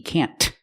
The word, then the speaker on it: can't: You don't have to pronounce the T, can't, to express that it's negative.